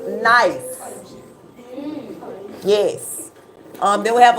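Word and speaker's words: gneiss: rocks the first one it starts with a g but it's actually pronounced n that first one g n e i SS is pronounced nice yes um then we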